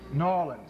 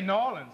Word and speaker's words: New Orleans: oh yes oh yes now wait New Orleans because it Rhymes in songs down here if you're from the city noin what this is nin y'all you're going to make me say noan we're going to say noin this is even though